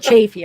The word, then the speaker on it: Chaffee: right oh my gosh if i accidentally say chaffee that's what just comes to my mind but chaffey okay i knew it but thanks because i do want to say how the locals say it you know because i